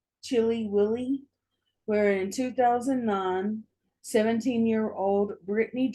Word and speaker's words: Chili: We start off in Rochester, New York, And we're going to the town of Chile through its, though it's pronounced Chili Willy, where in 2009, 17-year-old Britany Drexel wasn't was not having a great time of it.